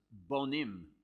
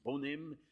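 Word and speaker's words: בונים: And yet you just change the pronunciation ever so slightly and banim children becomes bonim builders.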